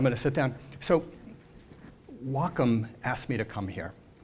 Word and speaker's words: Wacom: like work and life and that balance it's pronounced wacom the is the kanji word for harmony harmony